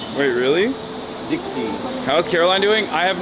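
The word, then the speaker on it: 的士: Taxis pronounced Dixie in Cantonese. Wait, really? Dixie.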